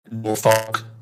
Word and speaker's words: Norfolk: Like when I fly into or Norfolk, right, that you just know that person has never been there before, right? Because Norfolk is not phonetically sounded out, right?